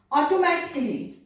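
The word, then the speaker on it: automatically: फिर यदि इंग्लिश में ऐसे वर्ड जिनमें कि लास्ट में ये आए CALLY, तो वहां पर भी ए साइलेंट होता है। कैसे, ऑटोमेटिकली, ऑटोमेटिकली, यहां पर आपको ऑटोमेटिकली नहीं बोलना है क्योंकि यहां पर ए जो है वो साइलेंट है।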